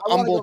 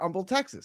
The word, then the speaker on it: Humble: No, no, it's Um, the H is silent. You know that. That's what I said. I said Um, Texas.